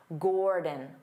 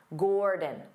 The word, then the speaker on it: Gordon: Dada Gord Gordon Gordon because the first syllable is stressed Gore so the second syllable becomes that unstressed vowel sound D D Gordon D again your dictionary